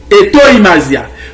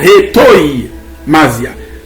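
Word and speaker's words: hetoimasia: Hétoïmasia. Ou elle écrit H-E-T-O-I, mais ça se prononce Hétoïmasia. La langue phonétique mot grec ça, ou après T-O-I-A se prononce comme Toi. Toïmasia. Hétoïmasia.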